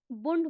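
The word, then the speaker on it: Bund: और इसका एक और नाम है जर्मन में, इसको बुंड बोलते हैं, ठीक है? बुंड या बंड, जो भी इसे प्रोनाउंस करते हैं, ठीक है?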